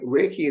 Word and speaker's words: Rei: Reiki is kind of made up of two small words. So there's Rei, R-E-I, pronounced Rei, and then Ki, pronounced Ki.